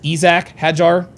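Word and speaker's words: Isack Hadjar: know if he like he says he likes it pronounced Isak Hajar. Isac.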